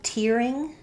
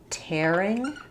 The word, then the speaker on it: tearing: which usage you're using, we have tearing, like same as in clear. So I was tearing up when I heard the news. And then we also have tearing with the air diphthong, as in tearing the paper or tearing myself away.